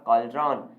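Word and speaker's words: cauldron: हैं बताइए इसका प्रनंसीएशन क्या होगा यह आपका कल ड्रोन क्या होता है ये आपका होता है काल्ड्रोन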